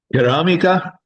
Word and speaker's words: ceramica: It is pronounced ceramica because we have that C followed by that E. So C followed by the E here makes that C a ch sound.